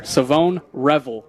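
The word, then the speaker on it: Shavon Revel: And uh, I've also been learning the the pronunciation here. Savone Revel.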